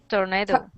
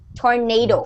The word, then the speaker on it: tornado: Tornado. Tornado. Okay, Antonio, it's not tornado, it's tornado, like name.